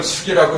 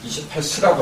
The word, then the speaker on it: 28수: 3장 28은 별 숫자 근데 일단 숙이라고 쓰지 마세요 28수라고 하세요 별자리를 쓰는 사람 많더라고요 이건 틀린 거예요 이제 성실하고 해야 돼